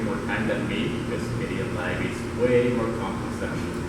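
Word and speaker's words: Kdenlive: I'm sure there's lots of fights about how to pronounce that. It's KDE Live.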